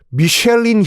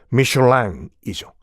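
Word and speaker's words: Michelin: 그 형제가 바로 미쉐린 형제들이에요. 미쉐린은 미국식 발음이고 프랑스식 발음은 미슐랭이죠.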